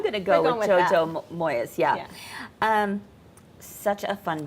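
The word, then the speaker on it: Moyes: going to I'm going to go with JoJo Moes yeah um such a fun book so I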